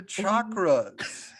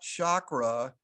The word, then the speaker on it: chakra: So then we are going to just move into the chakras. So and it's funny because literally the proper way to say it is not chakra, it is chakra.